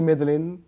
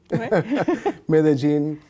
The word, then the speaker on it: Medellín: Qu'on prononce ici Medellín, Medellín.